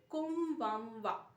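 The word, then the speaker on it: こんばんは: কোমবামওয়া। কোমবামওয়া। এক্ষেত্রে আমরা লিখছি কোন বান হা, উচ্চারণ হচ্ছে কোমবামওয়া, অর্থাৎ কোমবামওয়া হচ্ছে গুড আফটারনুন।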